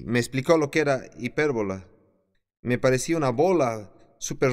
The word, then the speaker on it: hipérbola: la figura literaria hipérbola y dice hipérbola h&p y r&b o el acento en la primera e hipérbola y yo hago